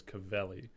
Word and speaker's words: Cavelli: name, but I think the final one that me and Effect settled on was Cavelli.